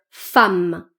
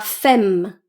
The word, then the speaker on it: femme: Femme femme et pas fame ce mot.